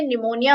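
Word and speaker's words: pneumonia: वो है option A चाहे आपको बोलने में प्रोनाउंस करने में निमोनिया होता है लेकिन यहां पर स्पेलिंग में हमारा पी भी आता है विच इसे silent her okay please silent होता है वो बोला नहीं जाता पर स्पेलिंग में आता है अब निमोनिया होता क्या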